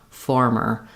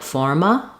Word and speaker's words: former: tight back American R, former. Often people will not be tight enough on that, and it'll sound more like forma or forma instead of former, formerly.